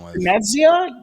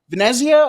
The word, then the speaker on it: Venezia: Uh Vanzia, I never say it right. Venezia always comes out with fantastic kits and in 2021 22 they came out with a really nice away kit.